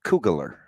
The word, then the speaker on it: Kugler: It's Kugler. Googler. Because he's cooler than you.